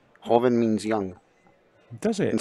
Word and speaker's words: Joven: hobbing so you know joven is how a lot of people pronounce it but in spanish and i'm pretty sure filipino it's pronounced horvin the j is pronounced like an h holven hoven means young does it